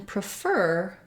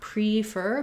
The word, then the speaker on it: prefer: on the pref syllable so in prefer the letters p r e say pra they have the reduced schwa and we don't make a clear vowel here not pre-fer but rather prefer we actually also might